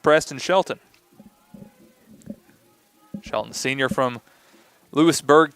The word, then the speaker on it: Lewisburg: Shelton, senior from Lewisburg, Tennessee. Not Louisburg, as people maybe in Kentucky would try to get you to think that that's how it's pronounced.